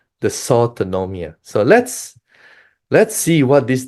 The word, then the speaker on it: dysautonomia: Okay, dysautonomia, that's how you pronounce it, in COVID-19.